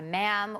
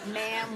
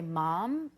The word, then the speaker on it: ma'am: They write you ma'am, which rhymes with spam. Why do they need to tell you? What other way is there to say it? Well, I guess that some people would say mom, right?